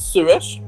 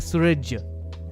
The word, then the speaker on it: Suresh: Is Suresh or? Yeah, it is what you just said. But some people, I don't know where they get a J from in the name. J? Yeah, they pronounce it Suraj.